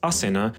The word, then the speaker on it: Ashina: bore the surname ashina in original turkic her name was asina but ashina is how the Chinese pronounce it this Legend is the